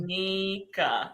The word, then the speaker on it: Dominica: Dominica. You see, people? It's not Dominican.